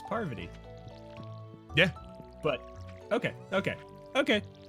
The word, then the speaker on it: Parvati: this her name yes you pronounce it like the cheese Havarti sorry my accent is is partly non-rhotic so the are before party doesn't like its Parvati to me rather than Parvati like